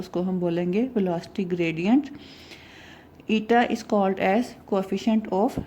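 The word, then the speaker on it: η: इसका प्रोनाउंसिएशन होती है ईटा, ETA, और इस तरह से इसको सिम्बोलाइज करते हैं।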